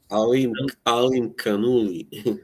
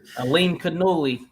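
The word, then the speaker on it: Alimkhanuly: Amakanoli, is that how you say it? Amakanoli? Alim Kanuli. Aleem Kanoli.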